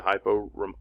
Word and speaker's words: hypo: right here the prefix hypo below below normal or low remember I told you hypo rhymes with low combining form Vall or